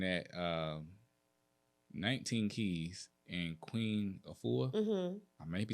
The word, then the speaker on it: Afua: I was listening at 19 Keys and Queen Afua. Mm-hmm. I may be saying her name wrong. It's right. Okay, Queen Afua.